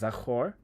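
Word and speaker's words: זָכַר: I think it will be fun for me to keep talking about this word, but it's pronounced zachor, and we're gonna press this.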